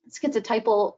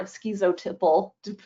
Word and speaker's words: schizotypal: Schizotypal personality disorder or skezoiple also one of those ones that people say both ways.